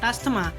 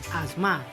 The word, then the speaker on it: asthma: should note down that pronunciation of asthma is not asthma it's asthma so time for the 10th